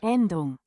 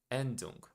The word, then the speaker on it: Endung: I don't know how to to pronounce that. Let me check so I won't say it wrong. Yeah, Endung. Endung.